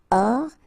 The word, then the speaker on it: hors: And then here S is not pronounced, the final one. So hors. And remember H doesn't exist. So hors ligne.